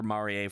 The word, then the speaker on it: Maria: calling her Maria because they literally only named her Maria for the sake of every day there you go it's literally that one cut scene just so that it rhymes with every day nobody nobody noticed